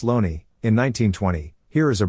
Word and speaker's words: Looney: the shakespeare corpus by j thomas looney pronounced loney in 1920 here is